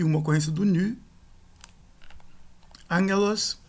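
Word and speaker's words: ἄγγελος: Angelos, mensageiro, uma ocorrência do gama aqui, com som de gutural nasal, só o primeiro, o segundo não.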